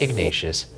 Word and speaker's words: Ignatius: Ignatius Hospital. That's how you pronounce it.